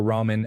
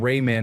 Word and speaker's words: ramen: I first had proper ramen and when I learned that the A is pronounced like a rather than a hard A. My mom still calls them Rayman noodles.